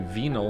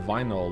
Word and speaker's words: vinyl: I don't know why I say venol instead of vinyl like you do. Um, is there some parts of the world that pronounce vinyl like vinyl? Vinyl is correct, right?